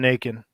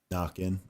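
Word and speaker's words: Naquin: an outfielder who sell high right now on naked the house pronounced knock-in knocking it's french french yep well i call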